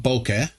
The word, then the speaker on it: bokeh: People were wondering about bokeh. Now, how do you pronounce it, guys? It's pretty much like you're saying it.